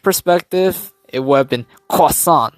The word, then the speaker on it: croissant: so far, like, yeah, apparently if you're to pronounce like croissant, oof, yikes, croissant in this case. There you go, croissant, right? Yes, I've heard people would say like croil and then sant, so then they kind